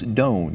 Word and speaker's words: Doane: how to pronounce the name and evidently the pronunciation i found was incorrect it is gustavus doan you said correct yes all right well as